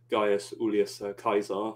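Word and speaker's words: Gaius Iulius Caesar: Well, his full name is Gaius Ulius Caesar, for using the correct Latin pronunciation, but I'll just call him Caesar for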